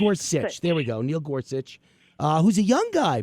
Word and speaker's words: Gorsuch: you to talk about Supreme Court nominee Neil gor gorsi am I pronouncing that right Gorsuch I think G Gorsuch there we go Neil Gorsuch uh who's a young guy by the way